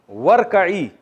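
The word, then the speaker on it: وَارْكَعِي: जब पढ़ते हैं ना तो वरकई पढ़ते थे, वह इरकई नहीं पढ़ते। ये तजवीद का कायदा है कि अब मिला के जब पढ़ते हैं तो ये अलिफ को साइलेंट कर देते हैं, वरकई, और तू रुकू कर।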